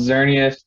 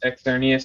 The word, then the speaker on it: Xerneas: them i personally like them like they're called xerneas and evil tall that's how you pronounce it the anime said so uh when i didn't know any better i always insisted that it was pronounced externius and y beltol i thought it was javeltong